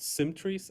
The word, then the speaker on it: SymTrees: to be talking about symmetries and symmetries one has two syllables the other has three and so this talk